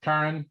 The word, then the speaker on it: Karan: It's the word car and the word in Karan. So you were pretty much there. Karan. So is this emphasis on the first syllable? Yes.